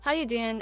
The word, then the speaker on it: Howuduyen: Is that how you say it, or do you actually say your name? Yeah, how you doing?